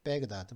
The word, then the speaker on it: 바그다드: 베그다드 미국식 발음으로는 베그다드라고 그러는데 지금 7분 지났는데 그죠?